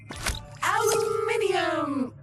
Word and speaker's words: aluminium: aluminum or aluminum as Americans pronounce it incorrectly.